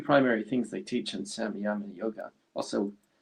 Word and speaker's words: Samyama: Well, what's the two primary things they teach in Samyama yoga? Also, some people pronounce it as Sanyama yoga.